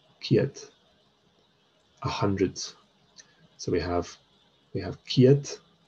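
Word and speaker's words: ceud: So we've seen Ciad, and remember this EU is often pronounced as EA, as IA. So Ciad, Ciad, 100.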